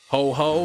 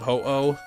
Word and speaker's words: Ho-Oh: Ho-ho instead of, yeah, instead of ho-oh.